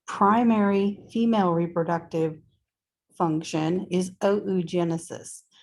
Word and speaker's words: oogenesis: So, primary female reproductive function is oogenesis. And yes, in Latin, you got to pronounce all the letters.